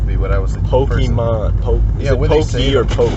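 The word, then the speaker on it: Pokémon: I've never met someone under 35 who can pronounce this Pokemans when they have the word in front of them.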